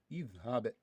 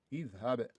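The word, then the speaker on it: اِذْهَبْ: Okay, so when the third letter appears with kesra or appears with fatha, you read the Hamzatul Wasli with kesra.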